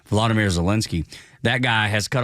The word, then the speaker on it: Volodymyr: And then you have the Ukrainian president, Vladimir, make sure I say it right, Volodymyr Zelensky.